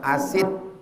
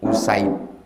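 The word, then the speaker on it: أُسيد: Jadi cara membacanya, kalau salah-salah dibaca orang asid, dari asid gitu. Salah, bukan asid. Usaid.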